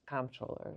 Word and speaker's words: comptroller: All of these like goofy rules to it, but allegedly you're supposed to say controller, but I've also heard it pronounced comproller.